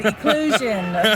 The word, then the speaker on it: eclosion: 8 tries to pronounce eclosion box. True story. Yeah. Until I said eclosion, a beautiful explosion.